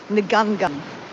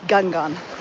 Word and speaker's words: Ngungun: It's spelled N-G-U-N, N-G-U-N, Ngungun. But it's kind of said, we used to say Gungun.